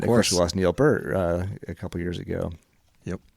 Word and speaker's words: Peart: And of course we lost Neil Peart a couple years ago. Yep. Or Peter, as I think is the way the Canadians properly pronounce that.